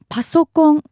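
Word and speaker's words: パソコン: In Japanese, computer is referred to as pasok, which is the abbreviation of the word personal computer, but pronounced the Japanese way.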